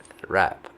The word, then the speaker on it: wrap: The W silent. Rap.